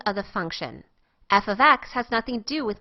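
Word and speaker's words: f(x): could possibly plug in the F with the X in parentheses is pronounced f of X and refers to the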